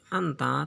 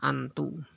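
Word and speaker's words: أنتَ: Tetapi di sini anta tetap dibaca anta, tidak dibaca antu.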